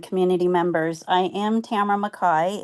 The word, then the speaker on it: McKay: I am Tamara McKay, it's pronounced McKay, and I am with the new Super PAC Aloha Conservative Alliance.